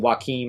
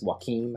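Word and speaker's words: Joachim: because one we're following joakim i think is what how you say is it's spelled like walking phoenix but it's joaquim i think it's how you say i think that's right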